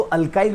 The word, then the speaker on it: alkyl: अल्किल बोलो, अल्काइल बोलो, pronunciation कौन सा भी चलेगा।